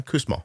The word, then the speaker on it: Kussmaul: Kussmaul breathing? Yeah, Kussmaul.